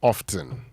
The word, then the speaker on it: often: If you want to say it right, the T is silent.